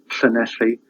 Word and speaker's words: Llanelli: The main one is a sound in llan, llanelli. It's just like a h sound, but with your tongue put in the position as if you're going to say l, as in lollipop. So the air comes around the side of your mouth.